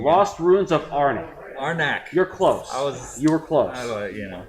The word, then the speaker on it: Arnak: so I don't pronounce it wrong. Lost Ruins of Arnak. Arnak.